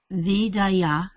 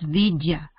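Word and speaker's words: विद्या: There is a difference between there is no A. So these to be pronounced together. So that's vidya.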